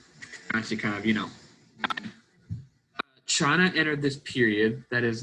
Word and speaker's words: Qin: to talk about the Chin Dynasty I know it looks like it's pronounced Quinn but it's actually pronounced chin and they were around